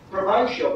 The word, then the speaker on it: provincial: Provincial, by the way, is three, not four syllables. It's usually pronounced provincial, but that's not right. It's provincial.